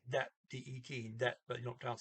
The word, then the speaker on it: de: it looks like that d-e-t that but you don't count steve day is the the for neuter and i don't know if i mentioned here d e that's pronounced d okay it's same exact word